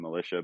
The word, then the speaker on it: Melicia: not very many people with the last name Militia, but it is spelled Melicia, not the way it is on my shirt or hat.